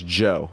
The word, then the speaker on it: Zhou: just looked it up and looked up the pronunciation and it is joe it's just joe yeah yeah j j j ow is what